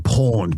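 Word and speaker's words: pwned: So tell us about creating Have I Been Pawned, but it's spelt P-W-N-E-D.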